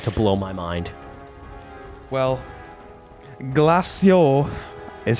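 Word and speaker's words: Glaceau: Well, glacio is how you pronounce it.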